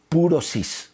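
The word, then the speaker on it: πύρωσις: Es purosis, con acento en la U, así suena.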